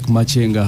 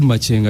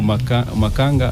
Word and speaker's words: Makenga: It's called Machenga. I think that's how they pronounce it. Or Makanga. I don't know. Just in Uganda and Rwanda. Yeah. in Uganda we could say Makanga, but you're saying it should be Machenga. But even in Uganda it can't be Makanga because it's Makenga. My understanding of Uganda can't be Makanga. It's Makenga.